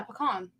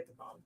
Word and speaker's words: pecan: Yeah, pecan. I mean, normally I would say pecan. There's just a difference in pronunciation.